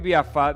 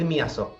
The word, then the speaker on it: Miazzo: Creo que pronuncié mal tu apellido. A ver, si me corregís, por favor. Miazo. Ahí está, Miazo.